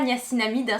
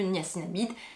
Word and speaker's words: niacinamide: alors oui on ne on a tendance à dire la gnassinamide c'est vrai que moi au prononcé tout ça j'aimerais dire la niace INAMI mais en fait normalement bon c'est le ni à sinamide c'est pas grave si